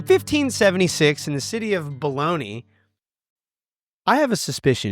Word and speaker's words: Bologna: In 1576 in the city of Bologna, I have a suspicion it isn't pronounced like the oversized sliced hot dog meats that are flowing flowing around these great United States.